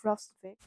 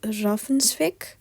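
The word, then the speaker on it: Hrafnsvik: I looked it up. It first of all, I pronounced it wrong, but secondly, it actually wasn't that difficult. So it's pronounced Raffensvik, I think, or Raffensvik. So yeah, that's it. That's the better pronunciation.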